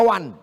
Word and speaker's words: one: Tulisan gak sesuai dengan bacaan. One dibaca wan.